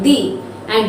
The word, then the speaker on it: the: using it before any vowel sound only before the vowel sound we use the sorry d and before any consonant sound we pronounce it as da so i hope our